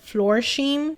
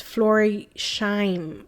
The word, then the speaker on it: Florsheim: I always said Florsheim, but apparently a subscriber said it's Florisheim, I think.